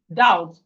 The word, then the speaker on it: doubt: So when we are pronouncing it, we are not supposed to say the B. We are not supposed to doubt. No, is doubt. Doubt. But when we are writing it, the B must be there.